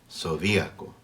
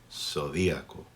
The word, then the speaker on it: zodíaco: In Latin America, a Z is pronounced just like an S, zodiaco. In Spain, a Z is pronounced just like CE or CI, as we mentioned before. So, in Spain, speakers there would say zodiaco.